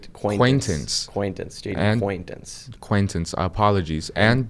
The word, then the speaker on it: Quaintance: We have Jaden Quintance. I believe that's how you say his name. It's Quaintance.